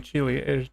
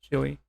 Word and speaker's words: Chile: I've heard that it can cause tsunamis in South America, like in Chile. Chile. Well, I shouldn't pronounce it like that. I should say Chile.